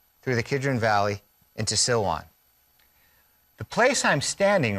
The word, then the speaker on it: Silwan: the arab village of silwan it sounds like the word siloam as in the pool of siloam it's the same word off to the right